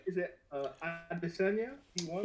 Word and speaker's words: Adesanya: Is it Adesanya? He won. well, I believe it's Adeshoya. So the S is like as like ish. So Adeshoya, I believe.